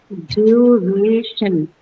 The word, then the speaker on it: duration: Since you have the shen suffix here, you have to mark it on the penultimate syllable, or Yes, the one that goes before it. So that's on the second syllable, gray.